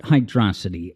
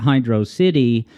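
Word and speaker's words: Hydrocity: doing it and I'm going to continue pronouncing it Hydro City that's kind of a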